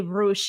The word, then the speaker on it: Rush: i'm not mispronouncing it you can say roosh but i just say rush to make it easier guys and get the